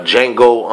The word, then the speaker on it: Django: basically that's it uh Jango Unchained of course the D is silent all right as often